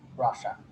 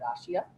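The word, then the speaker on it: Russia: টুতায়েভস্কি district in central রাশিয়া। এই শব্দটাকে আমরা একটু মিসপ্রোনাউন্স করে থাকি, এটা ইউজুয়ালি আমরা বলে থাকি যে রাশিয়া। রাশিয়া না বলে আমরা বলবো রাশা, রাইট, ঠিক আছে।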